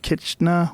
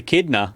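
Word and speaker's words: echidna: let's get to that K what is it kitna what is it how you say it a kidna kidna kidna I want to see what a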